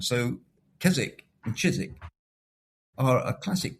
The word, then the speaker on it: Keswick: the other is Keswick is that Chiswick is the classic English change from k to ch. And in the north, thanks to the Vikings and bringing the Scandinavian pronunciation, cheese stayed with a with a hard K sound.